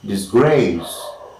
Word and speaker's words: disgrace: yes this this grace and grace this this is the second syllable is the most important let me say disgrace and the next is